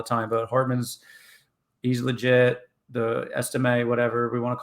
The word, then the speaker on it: Estime: And their run game with Etienne, or I forget exactly how to pronounce it. Estime, I think. Estime, right?